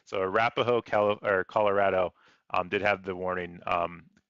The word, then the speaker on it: Arapaho: Arpoho, Arapaho.